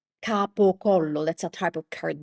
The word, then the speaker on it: capocollo: In Italian, the word is capocollo. capocollo That's a type of cured meat cured meat.